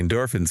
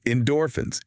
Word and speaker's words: endorphins: physical motion generates the endorphins that make you feel awake. That completely flips it around. It really does. Let's practice the word endorphins. Endorphins. See how the second syllable is stronger?